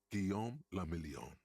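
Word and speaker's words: Guillaume Le Million: meant only one thing Guillaume La million if it doesn't rhyme you're not pronouncing it right out of the day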